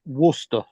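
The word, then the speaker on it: Worcester: wer it's it's spelled War sester but it's pronounced wer okay what your sister okay I got it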